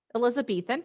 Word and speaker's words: Elizabethan: As Elizabethan, how do you pronounce that? Elizabethan.